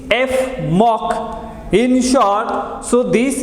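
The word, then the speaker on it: Fmoc: fluoroneal methyloxy carbonyl is in short known as f mock you can pronounce this f mock in short so this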